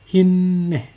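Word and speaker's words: הִנֵּה: Nah, sehingga bacanya adalah hinneh dengan 2 n.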